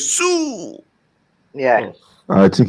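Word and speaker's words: Siu: No, he goes, HH goes, "See you." saw someone. Wait. That's how it was spelled. It was spelled S-I-U. I think the I is silent, bro. Also, it's Sue.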